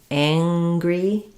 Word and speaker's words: angry: This ng also has an ng sound rather than an and a j, not angry, but ang. So, we have the a vowel ang gry First syllable stress, so it sounds like ang. Make sure the tongue is back and then you have another g sound, angry. And lastly, you wanted to